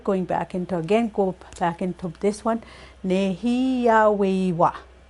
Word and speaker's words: nêhiyâwewin: So go back into this one, nêhiyâwewin. Nêhiyâweyu, you'll hear too, or nêhiyâwewin. So it depends on region, on how they pronounce it when they're referring to the fourth person.